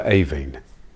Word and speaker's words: Aibhín: name of the poem it should of course be a kite for avine hello and welcome to